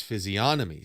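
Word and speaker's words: physiognomy: physionomy see people disagree there is a g but is it a silent G I think it makes sense that it's a silent G not a silent n it's always going to say physiography check since when do we have see that's the thing it's like yeah I think it yeah silent G is more common there it is like like in gnosis like you don't say I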